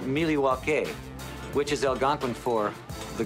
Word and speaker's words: Milwaukee: this number going up even more actually it's pronounced Milwaukee which is Algonquin for the good land I